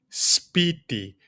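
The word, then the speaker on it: σπίτι: And here we see combination of two consonants, an S and a P. Speedy. And you see when I pronounce it, there's no space between them.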